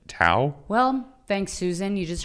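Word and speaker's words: Touw: was susan twee t-o-u-w i don't really know how to say it tau well thanks susan you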